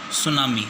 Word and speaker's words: tsunami: ठीक है लेकिन इसका जो प्रशिक्षणों का या सुनामी जुटी इसमें साइलेंट होता है ठीक है तो क्या उसे